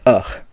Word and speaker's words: fadh: So the main ending, to remember, is fadh, pronounced ugh.